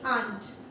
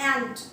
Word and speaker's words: aunt: आपको यहाँ पर इसे आंट, AUNT स्पेलिंग भी आप लर्न करिए और इसका pronunciation also you have to pronunciate आंट, नॉट एंट.